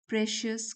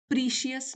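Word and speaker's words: precious: time is lives most प्रेशियस currency प्रेशियस इसको कैसे pronounce करेंगे प्रिशियस नहीं बोलते हैं इसको प्रेशियस प्रेशियस सबसे कीमती करेंसी मींस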